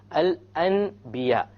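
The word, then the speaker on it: الأنبياء: So we don't pronounce it Al-An. We change the Noon into a Meme. And then we do a Ghunnah.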